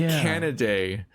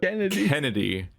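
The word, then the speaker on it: Canidae: means he's a wolf like canaday like cnn c-a-n-i-d-a-e they pronounce it in b stars in the english dub kennedy what and what additionally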